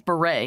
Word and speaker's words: Bure: But by the way, her name is Bure, Candace Cameron Bure.